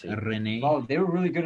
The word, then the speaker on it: Rennes: I mean, I believe it's pronounced Rennes.